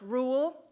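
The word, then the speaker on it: REUL: r e u l it's pronounced rule as in one rule for them another for the rest of us this bill is dangerous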